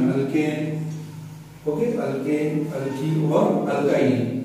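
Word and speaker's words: alkyne: आपकी प्रोनाउंसिएशन के लिए मैं लिख रहा हूँ, सॉरी, अल्काइल, इसको बोलते हैं अल्काइन, इसको बोलते हैं अल्काइन।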